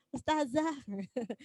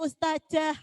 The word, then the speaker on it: ustazah: Biasanya kita kebiasaan nggih khusus nggih, ustazah. Ada yang ustajah. Padahal itu adalah huruf zal. Sama dengan innalladzi ini. Zal itu bacanya za. Jangan sampai keliru ke za atau keliru ke ja.